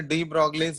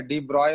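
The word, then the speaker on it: de Broglie: डी ब्रॉय उसको pronounce किया जाता है, ठीक है, जो कि कौन दिया था, लिखा जाता है ऐसे डी ब्रॉगली, ठीक है, लेकिन प्रोनाउंसिएशन होता है इसका डी ब्रॉय, ठीक है। तो ये ध्यान रखना, प्रोनाउंस किया जाता है इसको डी ब्रॉय से।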